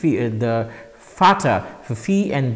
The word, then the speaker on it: Vater: For example, Vater and Water, Water and Vater in German. So, V is pronounced as V in this case, and so this is pronounced as F.